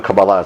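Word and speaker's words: Kabbalah: it my um cabala even though kabala is technically the right way to say it cabala what do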